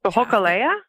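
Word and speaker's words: Hōkūleʻa: I don't know how to say the Hokulea?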